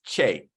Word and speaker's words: Kyei: So fun fact, if you ever see a name from Ghana that has K and Y together, it's pronounced with a CH. So it's Kyei.